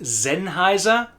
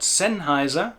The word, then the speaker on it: Sennheiser: That's also why the well-known microphone manufacturer is Sennheiser and not Sennheiser.